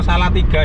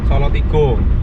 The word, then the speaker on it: Salatiga: Sekarang kita masuk ke kota Solotigo teman-teman, atau Salatiga ya. Kalau wong Jawa ya bacanya Solotigo. Saya tuh biasa baca Jawa sih Solotigo biasanya.